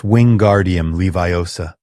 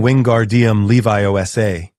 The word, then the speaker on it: Wingardium Leviosa: You're saying it wrong, Hermione said, trying to help. It's Winguardium Leviosa. You're saying Wingardium Leviosa.